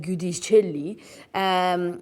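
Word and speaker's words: Giudicelli: Now, after competing at this year's French Open, a statement was released by the French Open president, Bernard Gudicelli, who said, and exactly in that accent, that's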